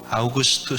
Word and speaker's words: 아우구스투스: 아구 씨도 오거든요 뭐 원래 발음으로 암 2 번역 이렇게 한글로 번역하면 아구 시도 라고 하는데 원래는 아우구스투스 시간은 황제가 집권했던 드립니다